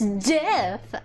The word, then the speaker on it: GIF: It's GIF.